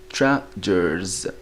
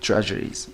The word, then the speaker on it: treasures: الإي هنا is not pronounced, so نشوفوا الحرف اللي قبلها واللي هو R. Listen carefully. Treasures, treasures. From the R sound to the S, okay, so it's treasures, not treasuries, okay, from around the world.